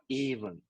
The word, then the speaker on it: even: uh emphasis stress right word stress for example even it it should be pronounced like even not e even or E Event even right and determination determination